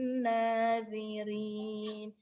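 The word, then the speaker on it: الناظرين: Faqi'ul launuha tasurrun nadhirin. Tasurrun gunnah nadhirin. Huruf dho-nya jangan lupa cara bacanya, lidahnya dikeluarkan, lidahnya jangan di dalam. Jadi dia sedikit digigit. Nadhirin.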